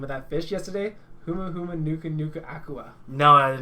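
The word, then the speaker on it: humuhumunukunukuāpuaʻa: Huma Huma Nuka Nuka Aqua.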